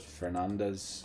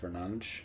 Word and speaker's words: Fernandes: I know that Fernandez, you know, Bruno for United, it's actually pronounced Fernandes in Portuguese.